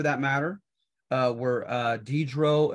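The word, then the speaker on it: Diderot: matter uh where uh dedro and Condor say spelled like Dieter rot and condorsay they wrote the first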